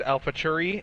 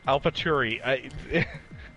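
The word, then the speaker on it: AlphaTauri: it correctly oh sorry alfa turi alph no no no say it correctly what am i saying wrong it's not cherry where's the where's the ch cherry alpha tarry oh sorry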